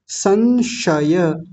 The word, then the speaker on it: संशय: त्यान नहीं त्यान व्याधिस्यान संशय संशय ध्यान दीजिए पहला कौन सा है दतीय सकार कार दूसरा है तालव्य शकार जिनको कल बताया था